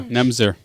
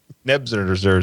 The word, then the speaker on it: Nebuchadnezzar: Yeah, Nemzer. Nebuchadnezzar. You do know there are more syllables there.